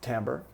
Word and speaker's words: timbre: is the Tambor and I know it looks like timbre but it's pronounced Tambor and and that is